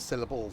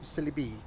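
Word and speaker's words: Sileby: Right, Syllabi Station. Not Syllable Station. Syllabi. Syllabi.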